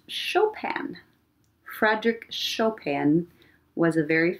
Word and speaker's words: Chopin: It looks like Chopin, right? Chopin. it's pronounced Chopin.